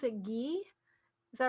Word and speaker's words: ghee: pronounced we pronounce it gee is that right so it's concerned it has more of an h sound yes and it's considered it's ghee it's considered medicinal so